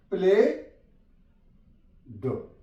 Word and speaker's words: played: For example PLAYED, प्ले ड, प्लेड, ई silent है यहां पे, प्लेड।